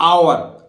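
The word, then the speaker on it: hour: अब इसको उच्चारण ओ यू आर, जैसे हम अवर बोलते हैं ना, ऐसे मत कर देना, ये आवर, आवर माने घंटा, हावर नहीं बोलेगा।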